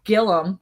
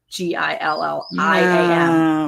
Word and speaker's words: Gilliam: to Country Gillum Farms Gillum I said it right I think Gillum with a u even though it's g-i-l-l-i-am we're gonna have to go with Gilliam Gilliam that's what it should be but they're from Oklahoma